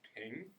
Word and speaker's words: PNG: PNG's pronounced ping?